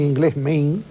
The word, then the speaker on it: Maine: la voladura del Maine, radicales. El Maine, todo aquí pronuncian en inglés Maine.